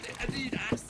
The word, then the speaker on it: Adidas: No, Adidas.